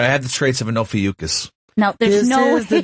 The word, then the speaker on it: Ophiuchus: I can't even pronounce it. It's like Ophiuchus. Yes, it's Ophiuchus.